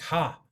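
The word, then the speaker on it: ห้า: And one of the great things I love about Thailand is the number 5 is pronounced ha.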